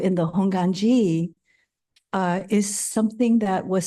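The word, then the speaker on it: Hongwanji: now it's interesting because if you go by suuki honganji they use a w in there and it's being used everywhere now uh but I think we still pronounce it honganji except if you don't know you try to pronounce it w anyways that's kind of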